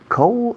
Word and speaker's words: coal: Coal? I don't remember. No me acuerdo. I don't remember. How do you say coal? Coal. Suena frío, pero sin la D.